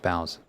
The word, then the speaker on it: boughs: We all live under the same bows after all. No, it's pronounced boughs.